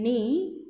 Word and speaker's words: knee: In knee, K is again silent.